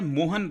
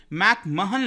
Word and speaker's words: McMahon: है ध्यान रखिएगा क्योंकि भारत के अंदर हमें आदत है मोहन बात करने की ये मोहन नहीं है ध्यान से देखिए मैक मोहन line M ए हा ओ